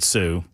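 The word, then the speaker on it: Sault: It's Sue St. Marie. Not spelled that way. Spelled salt, but they pronounce it Sue.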